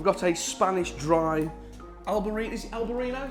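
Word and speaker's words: albariño: a spanish dry albarino's el barino is how you say it spanish dry albarino beautiful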